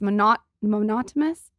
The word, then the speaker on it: monotonous: It's monotonous. God, I can't pronounce any. Monotonous. Like Monopoly.